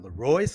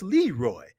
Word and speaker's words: Leroy: say oh you know your name is not leroyce leroy and i would say no it's leroy so hey there it